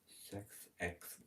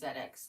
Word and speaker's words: ZedX: Sex Living. Yeah. Not sex living. It's ZedX Living.